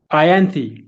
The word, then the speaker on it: Ianthe: It's actually an I. It's an I. So how do I say it? Ianthe. Ianthe. Okay.